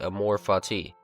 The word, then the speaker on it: Amor Fati: Here, how to pronounce Amor Fati? So I was right, Amor Fati. Well, Amor. Like Amor, I'm just gonna say Amor Fati.